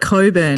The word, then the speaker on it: Cockburn: Also, there's a suburb in Perth, definitely spelt Cockburn, and it is the only, they call it Coburn. Coburn, no, that's a thing.